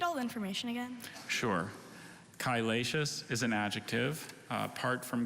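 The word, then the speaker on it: chylaceous: could you repeat all the information again sure kylatius is an adjective apart from greek to latin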